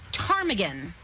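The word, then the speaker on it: ptarmigan: a there's a there's a silent P that always gets you I didn't say these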